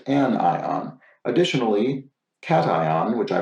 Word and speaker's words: cation: pronounced an ion additionally cation which i pronounced cajun is not pronounced like vacation it is simply cation like the animal thanks love the series